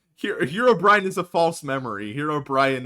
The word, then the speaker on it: Herobrine: Did you just pronounce it Herobrian? That's how it's pronounced. It's Herobrian. Uh Herobrian. Yeah. Not Herobrian. His name isn't Brian.